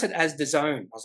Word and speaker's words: DAZN: company uh I thought it would have been da ZN no you pronounce it as theone I was like oh geez okay you pronounce this company that has bought Foxdale as theone uh this is an international streaming service I